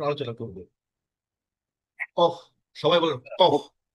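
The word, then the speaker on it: ق: কফ সবাই বলেন কফ এই কফের উচ্চারণ স্থানটা হচ্ছে এটা একদম শেষ থেকে তাল উপরে কফ লেগে কফ কফ কফ কফ কফ কফ ক এইযে দেখেন কোত থেকে এটা প্রচারিত হচ্ছে এখান থেকে আর এখান থেকে আমাদের হচ্ছে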